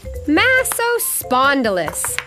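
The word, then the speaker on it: Massospondylus: oh dear hi I'm massive spondylus you say it like this Maseo spondylus I'm trying to think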